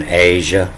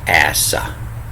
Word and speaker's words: Asa: So this is in this series on Asia, which I've been pronouncing wrong. It's actually Asa. Asa as in like gasoline.